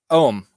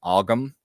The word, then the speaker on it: Ogham: I know that like English speaking, English speakers trying to, without knowing Irish at all, they tend to call them Ogham. But there's a couple different ways to pronounce them Irish wise, and that's like so yeah.